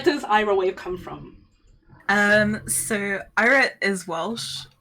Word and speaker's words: Eira: It's pronounced Ira, not Ira or anything. Please say it properly. like they call me in conventions.